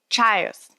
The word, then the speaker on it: Tso: I would love some General Tso's if anyone's making a run. I'm sorry. It's pronounced General Tso's.